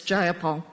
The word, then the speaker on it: Jayapal: If you're going to say my name, please Jayapal? say it right. It's Jayapal. Jayapal, would you agree with that?